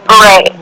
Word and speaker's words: beret: God the betet that's how you say it Beret yeah I say B I used to have